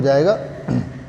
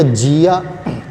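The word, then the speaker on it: じゃ: ठीक है, ये हो गया जिया। हमने जी या नहीं कहना है, जा कहना है, तो हम क्या करेंगे, जी के साथ या को छोटा करके लिख देंगे, तो ये हो जाएगा जा।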